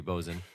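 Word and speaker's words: boatswain: yep bozeman yep yeah which is spelled b-o-a-t-s-w-a-i-n so you know why wouldn't it be bozen english yeah speaking of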